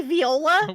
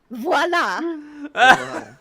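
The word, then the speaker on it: voilà: there why' you say Viola why you say it like that VOA V VA VOA VOA that's just a little bit of French that everybody should know it's the epitome of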